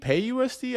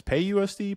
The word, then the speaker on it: PYUSD: it so the ACT it's p-y-u-s-d so what what are people calling this pay USD pay USD pay USD okay that makes sense um and pay USD